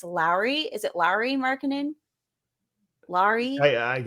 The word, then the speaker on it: Lauri: It's not Laurie, it's Lowry.